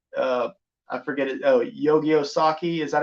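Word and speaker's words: Usagi Yojimbo: have it look like uh I forget oh yo-yo saki is that how you pronounce it oh Yogi uh yosagi ojimbo yes thank you I was like okay it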